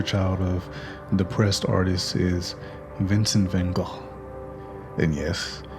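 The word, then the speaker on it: Vincent van Gogh: be a poster child of depressed artists is vincent van gaal and yes it's pronounced not go we all know how he suffered from mental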